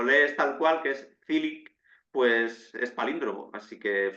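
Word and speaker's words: Čilić: el gran slam de tenis en Estados Unidos, Chilich, Marine Chilich, que tanto si lo pronuncias así como si lo lees tal cual, que es Cilic, pues es palíndromo.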